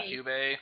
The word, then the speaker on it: QB: The thing is that, like, how do you say his name, QB or something, or? Yeah. Cube. Okay, QB.